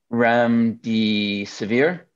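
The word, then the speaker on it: remdesivir: um two listings for I believe it's pronounced REM D severe so this was actually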